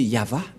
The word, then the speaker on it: Yahvah: mais la V lecture de ce terme c'est yava je vais vous apprendre directement mais tout d'abord